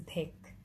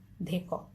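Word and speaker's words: দেখ: I take it for granted that everyone knows that this is dhek. It's not dheko.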